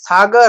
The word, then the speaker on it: সাগর: আছে আ আছে তো এই সাগর র র এর সাথে কিন্তু একটা অ আছে এ কারণে আমরা উচ্চারণ করেছি সাগারা আমি কিন্তু সাগর বলি নাই সংসার সাগারা এরকম করে বলেছি ঠিক আছে তো এই